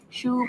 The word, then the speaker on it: choux: Yeah, and of course, tell them the correct pronunciation to sound even Choux. Professional. Yeah, professional. Choux pastry. Yes. Not chokes, yeah.